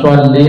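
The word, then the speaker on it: صلّ: Masa Allahumma sholli shu bacanya shad gini kan. Kalau syin kan syin. Allahumma sholli ala sayyidina Muhammad.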